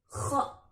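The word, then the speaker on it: خ: Selanjutnya setelah huruf ghain ada huruf kha. Huruf kha ketika fathah dibaca kha, ketika kasrah dibaca khi, ketika dhammah dibaca khu. Huruf kha cara membacanya sedikit ngorok.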